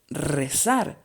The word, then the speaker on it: rezar: This last word is very interesting because it has two R's and they have different pronunciations depending on their position. The first R, since it is at the beginning, it sounds strong, but the second one sounds weak because it is at the end.